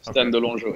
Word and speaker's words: Stan de Longeaux: Is that pronounced? Yeah, that's right. Stan de Longeaux, De Longeaux.